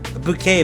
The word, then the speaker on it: bouquet: A bouquet. Bouquet. It was bouquet.